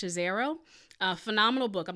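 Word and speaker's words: Scazzero: healthy discipleship by peter i think his last name is pronounced chazero a phenomenal book i'm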